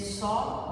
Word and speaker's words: Saw: So Hong rhymes with song, Hong, and Saw, like it's the same past, it has the same pronunciation of the past of the verb to see, right?